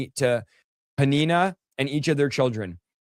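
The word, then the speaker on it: Peninnah: It's Panina.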